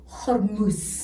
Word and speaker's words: Hormuz: Iran then retaliates from the accusations by actually seizing oil tankers that are passing through the Strait of Hormuz.